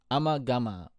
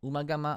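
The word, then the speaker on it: Ummagumma: Then we've got the infamous I should say Amma Gama. Umama, Amagama, however you'd like to pronounce it, the band pronounces it in varying ways.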